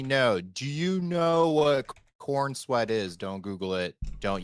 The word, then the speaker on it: Corenswet: Corenswet. But which is a really funky like last name. Not spelled the same as Cornsweat, but pronounced it.